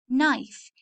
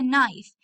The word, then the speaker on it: knife: this is a knife knife k is silent k is silent this is a knife k-n-i-f-e so number one